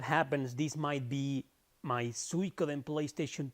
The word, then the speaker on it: Suikoden: many years, I used to think that the pronunciation was Suikoden. And even though in Spanish, every once in a while, I make the same mistake and pronounce it Suikoden. But nope, it's Suikoden.